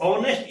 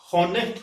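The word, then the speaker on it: honest: ऑनेस्ट इसलिए बोला जाता है इसको क्योंकि इसके साथ जो एच है वो साइलेंट रहता है, इसलिए इसको ऑनेस्ट बोला जाता है हॉनेस्ट की बजाय। एच साइलेंट रहते हैं, चुप रहता है, बोलने में लिखा जाता है लेकिन बोलने में चुप रहता है।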